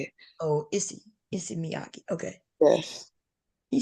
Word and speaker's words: Issey Miyake: Oh, Issey Miyake.